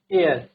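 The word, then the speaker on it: heir: Next, N एयर, ठीक है, एन एयर, तो क्या हो जाएगा, एच साइलेंट है, म्यूट है, it means article an follow करेगा।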